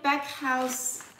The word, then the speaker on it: Backhaus: Alors, my friends call it back house. That's kind of a English pronunciation, I would say. But that looks German to me. Backhaus, maybe this is a fun too.